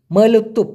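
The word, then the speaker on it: meletup: আর যে ফুটে ওঠে বা বাসটায় দুপ ঠাস, এটাকে আবার বলা হয় মলুতুপ, মলুতুপ, মলুতুপ। উচ্চারণটা হবে মলুতুপ, মলুতুপ দুপ।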